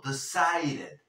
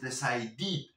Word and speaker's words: decided: no decided O decided esta e en este caso la pronunciamos como una e Y por qué porque